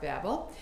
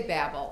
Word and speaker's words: Babel: So it can be Babel is one way to pronounce it, Babel or Babel. So I got all different experts telling me how to do it. So I usually probably say Babel, but Babel, Babel, Babel, different ways.